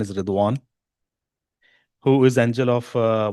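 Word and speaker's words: رضوان: Sometimes we call in Udu or in in Afanistan we sometimes call as Rizwan also but the real pronunciation is Rwan who is angel of uh one of the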